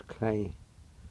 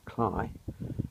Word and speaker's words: Cley: path that goes towards Clay Spy. I understand it is pronounced Cly.